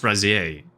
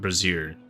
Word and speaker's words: brazier: It's pronounced brazier, Alec, not brazier. That's that's underwear.